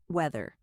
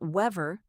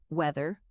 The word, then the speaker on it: weather: Notice the th sound. Put your tongue gently between your teeth. Weather. Not wever, weather.